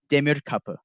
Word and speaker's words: Demirkapi: So the pronunciation of my last name, it's okay if you get it wrong, but it is Demirkapi. It's a Turkish origin.